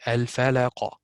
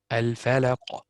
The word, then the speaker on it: الفلق: What I did not, I did pronounce the qaf, but I did not open the mouth.